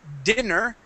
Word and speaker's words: dinner: But when we have dinner with two N's, with an ER at the end, that is dinner, with a short I ending.